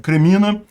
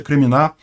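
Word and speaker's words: Кремінна: Vai acontecer o que está acontecendo ali na região de Kremina, o Kreminá, na verdade a pronúncia é Kreminá, e vão acabar morrendo eles se botarem em combate.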